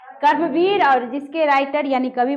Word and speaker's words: कर्मवीर: ठीक, क्रमवीर नहीं बच्चों, कर्मवीर। उच्चारण शुद्ध कीजिए।